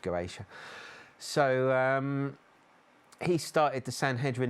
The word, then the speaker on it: Goetia: I always call them Goetic, but it's pronounced Goetia.